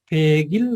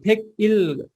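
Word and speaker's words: 백일: भनेको इल फेगिल हुन्छ अब यसको उच्चारण चाहिँ के हुन्छ त अब फेगिल गर्नुहोस् है अब फेक इल छिटारो भन्दाखेरि चाहिँ फेक इल गरे पनि हामीले चाहिँ जोडेर भन्दाखेरि चाहिँ फेगिल गर्नुपर्छ फेगिल ओके ल 101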